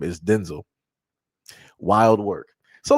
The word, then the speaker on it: Denzel: Like I said, uh Denzel Washington is not pronounced Denzel Washington. It's pronounced Denzel, which is crazy.